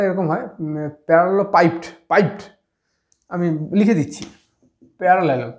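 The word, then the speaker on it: parallelepiped: বস্তু হচ্ছে একটা হচ্ছে তোমার হচ্ছে প্যারালালো পিপেট প্যারালালো পিপেড বা উচ্চারণটা এরকম হয় প্যারালালো পাইপড পাইপড আমি লিখে দিচ্ছি প্যারালালো পি এ আর এল এল ই এল ও প্যারালালো piped P আই পি ই ডি প্যারালালো piped প্যারালো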